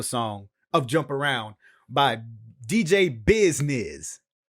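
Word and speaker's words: DJ Bizznizz: remix of a song of jump around by dj business right there's a remix to the song right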